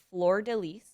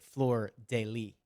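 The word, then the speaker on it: fleur-de-lis: you would pronounce it floor daily but in french you do pronounce the s yes it's like counter-intuitive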